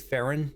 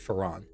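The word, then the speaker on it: Feron: Glyph pronounced it Farron, but she pronounced it Ferran.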